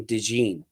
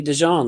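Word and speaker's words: DeJean: like about that player Voss is that he pronounces his name Dee and it's supposed to be dejon like you pronounced it like that's French bro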